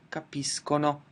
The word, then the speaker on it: capiscono: again I go back to the hard pronunciation, capiscono. So capisco capisci, capisce, capiamo, capite, capiscono.